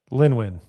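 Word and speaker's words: Lynwen: Lin Win. Oh, it's Yeah. Lin Win. Are Yep. very on board for. So Simon is supposed to kick out the next trilogy. Lin Win, that's right. Lin Win and Dave are the co-presidents of Lucasfilm now.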